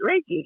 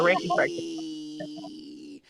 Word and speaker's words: Reiki: to say it wrong ricky you say right ricky yeah i'm a reiki and how does that uh intermingle with uh